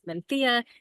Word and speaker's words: Mencía: pronunciation I learned is Mena so if you want to be kind of old school that is the old world pronunciation of it um and I say